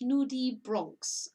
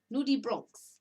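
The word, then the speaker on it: nudibranch: are very colorful um pronounced nudie bronx ah okay i even said it wrong nudie bronx okay i didn't know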